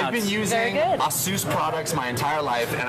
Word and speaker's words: Asus: done no no no no I'll send the Asus people after you I think it's time we